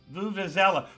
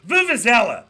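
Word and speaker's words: vuvuzela: the laser that's it vuvazella vuvizella there we go I was putting the wrong syllable in there uh it feels like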